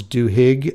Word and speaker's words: Duhigg: In this episode, the host interviews a Pulitzer Prize-winning journalist, Charles Duhigg, I think is how you say his name. It's D as in Delta, Uhigg. Anyway, about what it means to be a super communicator.